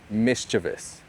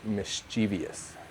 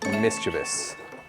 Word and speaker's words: mischievous: This word is technically officially pronounced mischievous. Mischievous. But I and a lot of people I know and everyone most people I see online on YouTube, on the news, on TV shows, they say mischievous.